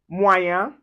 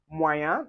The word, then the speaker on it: moyen: And then when you see IEN or YEN or E accent aigu, that's the acute accent with the EN, we pronounce it as un.